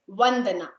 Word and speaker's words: Vandana: I just learned how to pronounce all of it. It's Vandana.